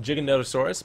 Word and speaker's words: Giganotosaurus: But we're going to try to tame a giga, which is actually pronounced Jiggonotaurus, but we're going to call it Giga because